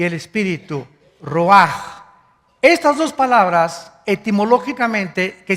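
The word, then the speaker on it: רוּחַ: El ruaj que se escribe r u a c h. Ruach en el hebreo y se pronuncia igual roaj.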